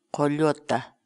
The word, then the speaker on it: qollota: de videos en la que te enseñamos a pronunciar algunas palabras en quechua Así que nuestra palabra del día por hoy es Toyota coyota la palabra quechua Toyota en español significa la